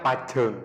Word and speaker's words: pajeng: Kalau di Madura itu pengucapannya pajeng. Pajeng. Pajeng. Beda logat. Lebih tebal. Pajeng lebih tebal J-nya.